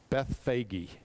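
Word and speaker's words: Bethphage: to Bethy sorry Beth I've also heard it pronounced Beth fagy so don't ask me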